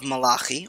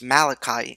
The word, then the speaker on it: Malachi: the book of Malaki often pronounced malachi in english is one of the